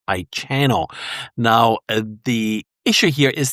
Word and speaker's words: Ichano: cameras and made by a company that I believe is pronounced Ichano.